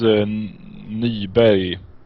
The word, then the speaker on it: Nyberg: Thomas Nyberg. Thomas Nyberg's. I pronounce this in Swedish.